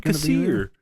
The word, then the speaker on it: Kassir: Cassir, Kassir, from Tales from the Crypt. Oh, shit. John Kassir.